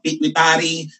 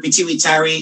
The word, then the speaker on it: pituitary: as your peary gland It's up to you if you would like to call it pwi Tari or piari It's up to you